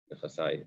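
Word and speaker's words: נכסי: Rabbi Yochanan is talking about where, I guess, back to the case of the Mishnah, where he said nechasai, my property, nechasai, my rhymes with my property, the possessive.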